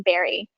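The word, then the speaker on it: Barre: 15 minutes away in barrie which is spelled uh like bar the exercise thank you so um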